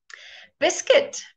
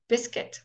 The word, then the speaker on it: biscuit: very often silent okay forget biscuit can you hear there's no you there biscuit or a seam build